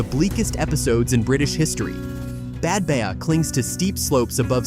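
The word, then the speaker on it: Badbea: episodes in British history, Bad Baya clings to steep slopes above sea cliffs on the east coast of Caith in Scotland, 5 mi north of Helmsdale, and its name is pronounced Bad Bay.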